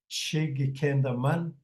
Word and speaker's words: Kihkayndahsohwin: pronounce because you have to put all the syllables together. So let's go over them. After Mikana, you have Kihkayndahsohwin, Kihkayndahsohwin, Kihnihgahm.